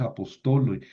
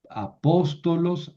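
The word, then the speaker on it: ἀπόστολος: No es apostolo. No es que esta en nominativo no se considera vocal larga. Larga. Entonces el acento sigue estando acá. Es apóstolos.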